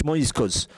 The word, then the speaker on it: Moriscos: used it as Moriscos, the same way it is pronounced in Spanish, Moriscos.